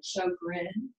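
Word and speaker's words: Sjögren: Okay, I thought I told you a fancy one, but it's called, and the way it's pronounced is show, like a Broadway show, Sjogren, but it's spelled S-J-O-G-R-E-N, Sjogren's, apostrophe S, Sjogren's.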